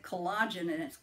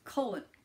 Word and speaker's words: collagen: of all I guess I mispronounced the word cold I said collagenous : collagen collagen collagen collagen okay also in